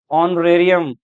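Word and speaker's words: honorarium: इन सब में H silent है, एच की साउंड नहीं आ रही इसमें, सब में वोवल साउंड आ रही है।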